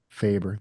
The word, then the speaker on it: Faber: Well, and I'm hoping I'm pronouncing this Faber. correctly. Faber, thank you.